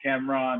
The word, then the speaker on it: Camron: Just don't put an E in Cameron. If you want to pronounce it Camron, then cool. That makes me cool.